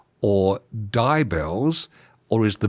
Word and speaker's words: DIBELS: Is it dibbells or dybells? Or is the B silent? What What's going on? It's dibbles. It's like cheesy dibbles, but without the cheesy bit.